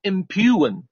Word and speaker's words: impugn: 好，再大家再猜一个，最后一个叫 impugn，这里的 g 不发音啊